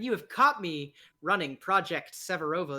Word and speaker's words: Projekt Severovo: have caught me running project severovo that is project severovo spelled with a k in the severovo it's silent now um uh i